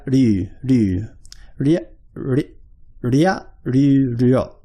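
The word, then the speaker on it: りょ: But when I'm saying ryo, it's hard for me to not say it using two syllables. But for Japanese people, they would say ryo in like one sort of thing, one sort of syllable.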